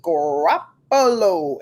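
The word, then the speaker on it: Garoppolo: And speaking of politics, what about the quarterback, Jimmy Grappollo? Am I pronouncing his name?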